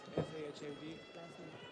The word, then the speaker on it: Fahad: Yes, F-A-H-A-D, Sahid. It's not kind of hard. You can go. Okay. Sahid. Sahid. Yeah, Sahid. You got to pronounce it right here and say Fahad.